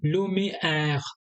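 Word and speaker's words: lumière: ठीक है, अब इसे किस तरह से प्रोनाउंस करना है? ए, समझो, ए के बाद में आई, आई, आई, यून, लुम, इन, लुमिएर, लुमिएर।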